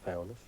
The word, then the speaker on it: Foulness: Even with the name Foulness, I mean, it's Foulness to everybody else. An island person would pronounce it Foulness, but every field had a name.